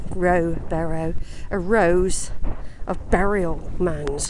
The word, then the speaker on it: Rowberrow: I've got here Rowberrow, or Barrow. It's Barrow. It's spelt Barrow. Rowberrow.